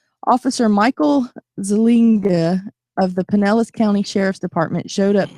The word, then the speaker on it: Pinellas: Pinellas. Is it pronounced Yeah. Pinellas?